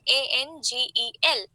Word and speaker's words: angel: Okay, but when you speak, if you are a British speaker, British English speaker, you will try to put greater emphasis on the first syllable in this particular word.